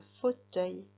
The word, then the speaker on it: fauteuil: Maintenant, je voudrais que tu écrives un fauteuil. Un fauteuil. Attention, le O dans fauteuil, il s'écrit avec 2 lettres. C'est le même O que dans jaune.